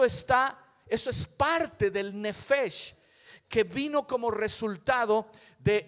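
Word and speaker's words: נפש: palabra en el hebreo original nefes repítalo Conmigo nefes nefes quiere decir alma o una persona con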